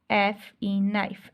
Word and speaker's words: knife: Next आप नाइफ लिख सकते हैं, KNIFE, नाइफ। अब नाइफ में देखें हम के नाइफ नहीं बोलते, नाइफ बोलते हैं, तो यहाँ पे के जो है वो साइलेंट हो गया, ठीक है।